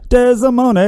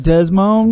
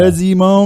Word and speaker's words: Desimone: I didn't know how to pronounce his last name until he said it. Until he said it, neither did I. That's how you say that shit. That's how you say it. I wasn't saying it like that at all. I was like, Desmond. Desmond. Oh, there's an I in there.